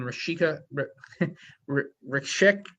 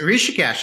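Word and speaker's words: Rishikesh: sa SATA Summit in rashika Rik I'm gonna mispronounce this one Henry how do I help me out here with the India place it's it's rishikes and actually uh the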